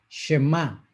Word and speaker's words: Shemá: Bueno, la palabra Shema no es Shema, no es Shema, es Shema, con un acento en la última letra.